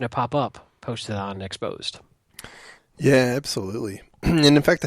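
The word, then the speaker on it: XSSposed: org exposed uh you know basically cross-site scripting POS but pronounced exposed.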